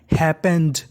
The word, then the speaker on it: happened: HAPPENED, इसे पढ़ते हैं हैपेंड। हैपेंड, P 2 बार लिखा है, उच्चारण 1 बार करना है, और ED को पढ़ना है जा।